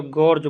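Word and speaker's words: gorge: खंड को अंग्रेजी में क्या कहते हैं तो गर्ज बोलते हैं ठीक है इसका स्पेलिंग होता है आपका जी ओ आर जी ठीक है ना ध्यान रखिए गर्ज तो कभी कभी आपको यह भी देखने को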